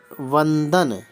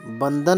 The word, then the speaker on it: वंदन: शब्द आता है एक शब्द है वंदन वन दन बंदन नहीं होता है वंदन होता है और एक है अत्यधिक